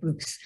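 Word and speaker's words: Buyx: Okay, Boix.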